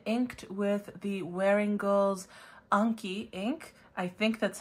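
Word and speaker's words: Enki: twis Eco Cerulean in with the wearing girls Anki ink I think that's how it's pronounced it could be Anki or however else but I pronounce it Anki uh it's en Ki but again it's a Sumerian god by the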